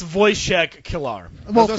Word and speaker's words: Wojciech: And second, the soundtrack, the score by an unpronounceable Polish guy, Wojciech I was Kilar.